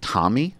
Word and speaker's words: Tomi: wrong Tommy Lauren yeah I always want to say tell me it's not do C called her that too it's don't it's Tommy yeah okay Tom it's